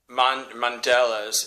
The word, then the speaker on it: Mondelez: It's Mondelez. It's spelled Mondeles, Mondelez International.